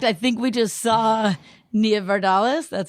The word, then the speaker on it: Nia Vardalos: And fun fact, I think we just saw Nia Vardalos, that's how you say it, at Alex Edelman's show.